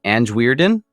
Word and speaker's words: Anjwierden: and I did not ask you how to pronounce it is that an weiron weiron yes yeah that's the short version